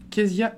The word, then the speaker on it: Kéziah: On est avec Kezia Ekissi. Tu me dis si j'ai bien prononcé ton prénom.